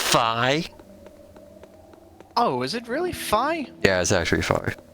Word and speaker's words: Fi: The Fee Blade. The fee to play the game. It's called the Fee Blade. I'm sorry, it's pronounced Fi.